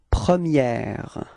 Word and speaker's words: première: Okay, so don't be afraid to insist a little bit. Première. Okay, pronounce it quite correctly, because if we don't, if you don't, then I will understand the premier.